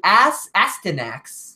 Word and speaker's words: Astyanax: It's called the Astyanax. So it's spelled Astyanax.